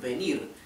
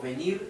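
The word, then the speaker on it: vem: en portugués el verbo venir es vir si y en el imperativo se se dice se conjuga ven si Y aunque se escribe con m se pronuncia como una n ven ven a felicid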